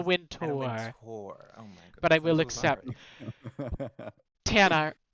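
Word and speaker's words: Wintour: vogue vogue anna winter alex you didn't pronounce it correctly but i will accept in a tour and a win tour but i will accept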